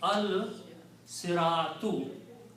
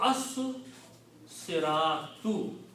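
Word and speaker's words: الصِّرَاطُ: So when you put al, two dhammas change into one, and this becomes al siratu. Also, the swad here kills the sound of lam, and you have to pronounce the swad twice because this is a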